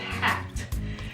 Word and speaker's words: hat: La palabra sombrero en inglés se pronuncia o se dice hat. La H se pronuncia como si fuese una J en inglés, a menos de que la palabra pues tenga un origen en otro idioma.